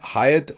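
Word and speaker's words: Hyatt: अक्सर लोग ये जो हायत होटल है इसे हयात होटल पाकिस्तान में यूएई वगैरह में अक्सर प्रोनाउंस करते हैं और वो समझते हैं कि जो अरबी का या उर्दू का लफ्ज़ हयात है ये वो है। ऐसा नहीं है।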